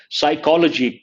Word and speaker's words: psychology: Psychology. P is silent.